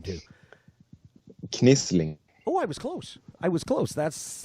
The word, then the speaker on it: Knislinge: Knisling.